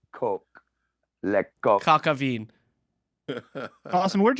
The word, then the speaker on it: coq: And it's pronounced coq.